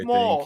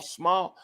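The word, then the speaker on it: Smael: It's I thought it was small. It's small. Smile. No, it's Smile.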